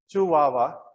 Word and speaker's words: Chihuahua: is called as it's called as or is pronounced as desert chuwawa desert and this chihuahua desert now lies in